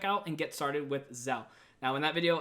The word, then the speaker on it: Zelle: and get started with zel now in that video I do excellently call it Zelly which is definitely not the right way to pronounce it but either way you're